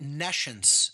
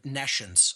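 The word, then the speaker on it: nescience: or hear the word Nations so I'll even spell it for the listening audience it's n-e-s-c-i-e-n-c-e like n e and then the word science meaning no science again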